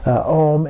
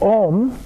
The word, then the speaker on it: Om: he also includes the Om and the D at the end there. So Om, also spelled A-U-M, sometimes considered to be a combination of the sounds of those 3 letters coming together, is considered to be